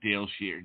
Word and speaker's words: Dayle Schear: you are live on the air with psychic Dale sheare did I say it right yes yes yes